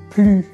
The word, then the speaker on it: plus: maintenant au cas où on ne prononce pas le S du mot plus donc on dit plus premièrement quand il est